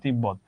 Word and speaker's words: তিব্বত: যেমন দেখো তিব্বত ব এর সঙ্গে যুক্ত হয়েছে, আছে তো উচ্চারণ তিব্বত।